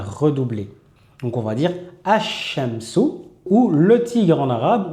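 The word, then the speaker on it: الشمس: Ash-shamsu. On ne va jamais dire el-shamsu. On va toujours dire ash-shamsu.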